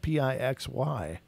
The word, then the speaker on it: Pixy: Pixie Sticks is actually spelled Pixy, not Pixie. So we got Galactic Pixie. You're going to have to change your name, girl. It's Pixy. It's Pixy. So just to set it straight.